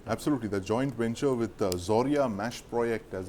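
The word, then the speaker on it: Zorya-Mashproekt: end of the absolutely the joint venture with zorya mash project as it's pronounced the Ukrainian company that powers like literally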